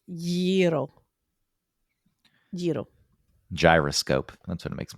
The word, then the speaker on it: gyros: Oh yeah, there were the gyros, which I know is not how you pronounce it. Uh-huh. What is it? Gyro?